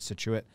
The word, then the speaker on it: Scituate: to see if i yeah that's how you pronounce it he said cool nailed it situate uh rhode island there's a scituate mass as